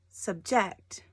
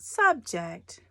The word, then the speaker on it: subject: subject or subject well this one emphasis is on the second syllable so subject subject not subject subject the two choices you